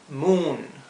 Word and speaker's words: moon: Tenemos ahora la doble O, se pronuncia U. Bien, por lo tanto, aquí vemos moon. Se pronuncia como una U larga, en realidad. Una U, así.